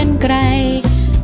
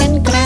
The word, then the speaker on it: กรรไกร: รอ ฮะ รอหัน ก็ รอ หัน อ่าน ว่า กรรไกร กาลา อ่าน ว่า กรรไกร ไป ห้าง สรรพสินค้า แผน น่า นั่ง เรือ